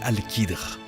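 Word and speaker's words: Al-Khidr: Eh bien, l'histoire nous apprend que son nom est Al-Qadr, prononcé Al-Qidr, et il était l'homme le plus savant durant cette période.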